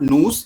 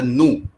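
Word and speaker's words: nous: We don't pronounce the last letter. So not noos is a nu.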